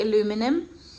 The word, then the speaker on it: aluminum: Actually, I don't know how to say it American style, but I say aluminum.